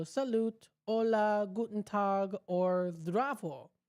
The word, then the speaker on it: zdravo: You know, we say hi, hello, salut, hola, guten tag, or zdravo, right? Wait, is that how it's pronounced? I'm looking at the word itself. Zdravo. Zdravo.